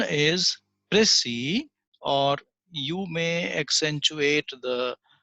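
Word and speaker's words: précis: the important points that is a pressie the pronunciation is press e or you may accentuate the other syllable the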